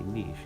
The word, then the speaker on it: niche: That lady I was just telling you about, I have to say niche because it really seems to bother her if I don't say it correctly.